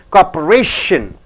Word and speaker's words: cooperation: Before T-I-O-N, this syllable, R, should be stressed. Whenever you find T-I-O-N, the syllable before shin, T-I-O-N is pronounced as shin. Cooperation. Differences. Directly.